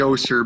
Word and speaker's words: Oster: It's actually Oster, but you're not the first one.